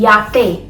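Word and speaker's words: yate: चाहिए taxi Y वाई को कैसे पढ़ेंगे या की साउंड में याते याते याते जेड को कैसे पढ़ेंगे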